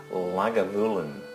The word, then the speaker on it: Lagavulin: How you pronounce Lagavulin is Lagavulin. Lagavulin. You drag out the vulin, so it's Lagavulin.